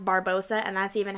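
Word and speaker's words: Barbossa: This is Captain Barbosa with the little logo on the bottom. He is my favorite pirate. May I also add, I don't think you have to say it with a Spanish accent, Barbosa.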